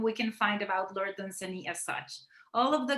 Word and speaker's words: Dunsany: First of all, I'm sorry to say it, but the pronunciation of his name is Dunsany. Oh, I didn't know is that. on the second syllable, not the first.